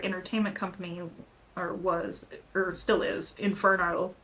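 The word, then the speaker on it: Inferneaux: So I kind of stepped away from doing dance as much, but our entertainment company or still is Inferno, spelled with an EAUX.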